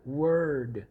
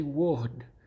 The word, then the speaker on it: word: Word. You see what I just did? Word. You don't say wood. You don't say, it's always like that R from the countryside.